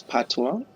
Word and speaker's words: patois: time it's jamaican creole otherwise known as patwa though it's spelled patois and it's a mixture